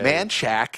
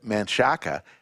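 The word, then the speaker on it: Manchaca: do you say that how do you say manack instead of Manaka and then of course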